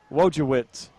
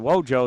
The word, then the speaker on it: Wojciech: We call him Wojciech. Wojciech is how we're going to call that name. Been trying to get help. Finally got a pronunciation. Wojo is what they call him on the team. Wojciech is what we'll call him.